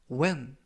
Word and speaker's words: when: 표현이 되겠습니다 이번 표현은 when when when이라고 발음하시면 되겠고요 이때 유의하실 점은 알파벳 h 이번 단어에서는 무음이라 발음이 되지 않습니다 그래서이 아니라 when이라고 발음하시면